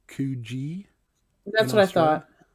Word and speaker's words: Coogi: Coogie is pronounced Coogee in That's what I Australia.